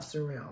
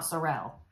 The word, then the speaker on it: sorrel: one that i've made it's the summer sorrel not surreal not sorrell i'll probably never get it it's a sorrel sweater summer sorrel by